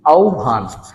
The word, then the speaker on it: আহ্বান: আর এই যে দেখো কি? দন্তান্ন। উচ্চারণটা হয়ে গেল কি? আহ্বান।